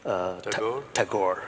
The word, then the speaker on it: Tagore: Yeah, I never know how to pronounce his name. Tagore.